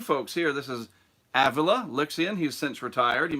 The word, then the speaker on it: Avila: I say Avila. Avila. I always said Avila. I was wrong.